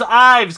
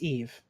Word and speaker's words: Yves: okay I'm like and where's Ives captain its Yves Yves whatever but just Dave no